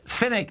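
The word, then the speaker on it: Pfennig: And Finnick is spelled P-F-E-N-N-I-G.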